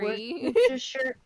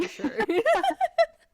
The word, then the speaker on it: Worcestershire: Worcestershire. Worcestershire. Some people haven't pronounced it.